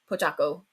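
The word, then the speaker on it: Pochacco: Pochaco. I always say his name wrong.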